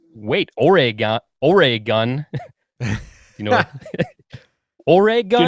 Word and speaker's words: Oregon: have, where they say Oregon, but I think she's trying to get you to say Oregon, which is the pronunciation. Oregon, yeah. There's no like E sound in there, Oregon, but I'm not a stickler for it.